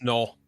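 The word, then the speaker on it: Knull: alien do something out null or how you pronounce it canol or null it's null null yeah it's no I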